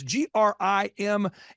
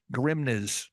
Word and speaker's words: Grimnes: your last name it's g r i m NES so someone's going Grimes Grims Grim you got it the first time if you add s you will pronounce it correctly yeah so think of